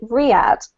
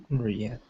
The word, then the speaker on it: Riyadh: I haven't really got many comments about words, except for this city here is pronounced in English anyway, Riyadh. Riyadh.